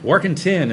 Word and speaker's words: Warkentin: It's not Warkentin. Warkentin is how my family pronounces it, yeah.